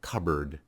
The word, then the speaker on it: cupboard: of like the word cupboard if you look at the word it is spelled cup but we pronounce it with a b because these two sounds